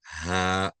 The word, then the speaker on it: ح: Letter Ha. Ha. Very good. Very close, but not ha, not ha, not ah, but right? So a flat sound.